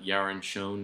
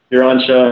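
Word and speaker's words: Yaron Schoen: right you and uh yaron shown is how you pronounce his name you're on show yeah which is another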